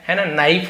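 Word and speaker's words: knee: नाइफ होता है तो ये के एन यदि एक साथ है तो के साइलेंट रहता है इसे हम पढ़ते नहीं है कि क्री नहीं पढ़ेंगे केवल नी के एन एक साथ हो तो के को नहीं पढ़ते बस इसे पढ़ा रहता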